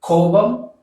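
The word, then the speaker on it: கோபம்: koba koba so Coulomb you have to pronounce this as Kobo represents angry well if you're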